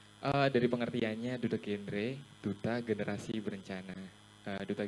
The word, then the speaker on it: genre: Jenre itu apa sih? Jenre musik kah? Pop koplo gitu bukan ya? Cara bacanya adalah duta genre. Jadi Heeh. genre genre.